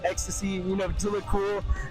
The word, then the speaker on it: EXOSSI: and, you know, that's whenever I stuck with Ecstasy. So, yeah. Oh, man. When I first saw the name, I thought it was um Excelsi or something like that.